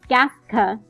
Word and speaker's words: Gaska: For instance, gaska has the stress on the first part of the word, gas, and then it has the unstressed part being the second half of the word, ka, which shows the stressed